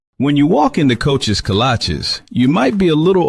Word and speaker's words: kolache: What's a colache? Oh, cola cheese? Colache? Kolaches? Kolache? Like the shoes? No, that can't be right. It's kolache, but it don't matter